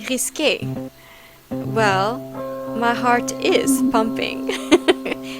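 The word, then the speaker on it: risqué: So, this is your idea of risque? It's actually pronounced risque.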